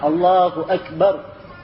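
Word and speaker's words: الله أكبر: kalimat Allahu Akbar Ya dibaca dengan biasa Allahu Akbar Ya begitu alifnya pendek lamnya paling panjang dua harakat ya Akbar semuanya tipis I semuanya apa namanya pendek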